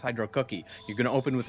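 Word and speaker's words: Hydrocity: Hydro Cookie? More like Hydro Kitty. No, it's not Hydro Kitty, it's Hydro Cookie.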